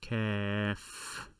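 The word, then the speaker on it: كاف: in english and this letter is called caff caf you will hear it in words such as key for example what else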